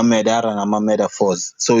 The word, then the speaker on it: Medaphorz: on my end it's metaphors sorry carry on yeah yeah no I was about to say that um most people pronounce it with a t but I spell it with a d as in years because